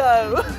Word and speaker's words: though: Though. Toe? Tough? Though. Though? Though. Though. Though. Though. Though. Now the O-U-G-H sound was O, like the word go.